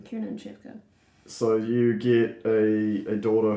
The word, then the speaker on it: Kiernan Shipka: No, that is how you pronounce her name, Kiernan Shipka.